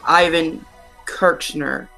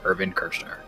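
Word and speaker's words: Irvin Kershner: Is it A, George Lucas, B, Lawrence Kasdan, C, Richard McCord, or D, Ivan Kirchner? To mispronounced fix almost all of Hunters, it's George Lucas, Lawrence Kasdan, Richard Marquand, or D, Irvin Kirchner.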